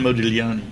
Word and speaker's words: Modigliani: The G is silent, right? That's right. As in yeah. Modigliani.